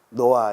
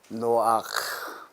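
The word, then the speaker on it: נֹחַ: 존재할 그런 이름이다 노아 이렇게 발음해 왔는데 히브리어는 노아크 노아의 사적 노아의 사적이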